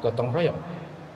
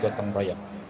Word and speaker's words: gotong royong: we're going to establish is the state of Gotong Royong.